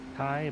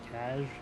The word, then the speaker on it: Kaj: I'm assuming that's also how you pronounce Kai, but it's Kaj. It's spelled like Kaj.